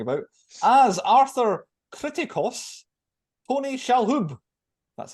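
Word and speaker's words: Shalhoub: film we're talking about as Arthur criticos pony shalhub that's how you say his name famous for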